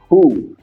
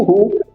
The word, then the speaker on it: Who: pra próxima pronúncia ó muito cuidado com essa pronúncia Who H Beleza o hu ele significa quem quem e nós utilizamos para